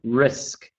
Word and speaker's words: risk: And Ang, just the word risk, risk. Okay, just to pronounce the S there, risk.